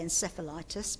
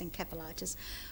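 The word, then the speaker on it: encephalitis: who'd had intis and I know the Americans say in sephtis but in Britain it's intis with all sorts of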